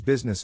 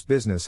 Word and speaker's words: business: To pronounce business, have in mind that the size of the syllable indicates where the accent or stress is. In this case, the accent is in the first syllable, corresponding to biz.